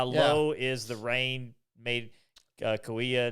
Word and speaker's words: Kauai: See, I used to say Kahia, and I swear Kiefer said Kahia. No, maybe not. But a lot of people, even other people I've talked to, they say Kahia, but it's it is Kauai.